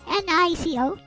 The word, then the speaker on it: Nico: N-I-C-O.